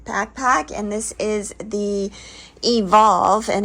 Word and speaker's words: EVLV: It's a Waymark gear backpack, and this is the Evolve, and it's spelled EVLV Ultra, and it's a 40-liter backpack.